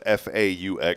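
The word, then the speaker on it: phở: Yeah, everybody says fo, but it's fa.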